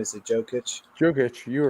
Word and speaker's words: Jokic: Jokic, you were right.